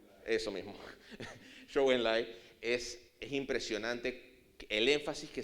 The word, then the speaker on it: Zhou Enlai: Enlai, Zhou Enlai, sí, Zhou Enlai, ¿cómo se pronuncia? Eso mismo, Zhou Enlai, es impresionante el énfasis que se le ponía